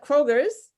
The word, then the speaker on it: Kroger: So they went into Kroger's in Atlanta and they stayed there for 2 hours and they paid for everyone's groceries.